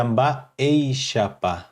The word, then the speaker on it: Mba'éichapa: é uma Ei Chapa essa aqui se pronuncia aba Ei chapa um bar em chapa estou repetindo para que possam pegar a pronúncia eixa pa expressão formada